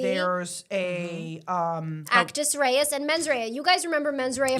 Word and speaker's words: mens rea: His accent, he used to say he would say mens rea, and I loved that. Well, that's how way you he should say it from now pronounced on. Mens rea. Kind of like Meg Ryan.